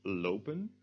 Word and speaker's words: lop: If we chop off en, however, we get the word lop, which is pronounced differently, o, loop, lop.